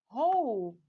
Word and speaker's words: hope: When I add E, silent E, to the end of the word, it becomes hope, like a wish. Hope. I hope. I wish. Okay? I added silent E at the end. So I got two different words now. Hope with short O, hope with long O.